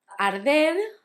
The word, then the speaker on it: arder: Arder had the difficulty of the R's, that's soft, because it's between a vowel and a consonant.